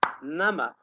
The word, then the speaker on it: number: Nama, without pronouncing the B sound because it is silent.